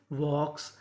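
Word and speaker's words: walks: डब्ल्यू एल के एस वॉक्स। यहां पे एल हमारा साइलेंट रहेगा। एल का उच्चारण नहीं करेंगे।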